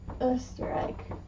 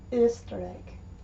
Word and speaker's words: Österreich: In the word Österreich, which is the German word for Austria. Österreich. Österreich. Not Österreich, Österreich.